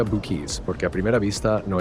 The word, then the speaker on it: Buc-ee's: Y por cierto, algo importante, ¿cómo se pronuncia Buc-ee's? Porque a primera vista no es tan obvio, se dice Buc-ee's, así, tal cual, Buc-ee's. La primera parte suena como buck, como la palabra en inglés para un ciervo.